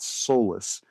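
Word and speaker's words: Solas: of a reasonably well-known Irish band called Soulless. Uh it's spelled like uh Solace, but it is a Gaelic word that uh that means the sun.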